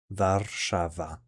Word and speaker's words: Warszawa: It is pronounced as Warszawa. Warszawa.